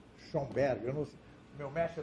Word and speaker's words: Schoenberg: Se escreve assim, ó. Schoenberg, eu não sei.